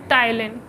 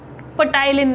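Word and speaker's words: ptyalin: आ गया, ठीक है, उसकी स्पेलिंग होती है PTYLIN, टाइलिन, पटाइलिन नहीं कहते इसको, पी साइलेंट होता है, ठीक है।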